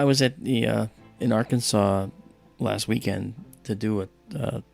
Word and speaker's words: Arkansas: I said, "Claire, um why is it pronounced Arkansas and not our Kansas?"